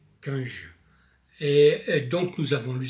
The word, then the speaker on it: Cunge: Je me suis un peu renseigné pour la prononciation, donc c'est Cunge.